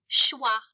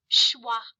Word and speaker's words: schwa: good that's two vowel sounds so that's two syllables all right today we're going to learn a new vowel sound and it's called shwah I want everyone to say shwah I love to say it ITW that's not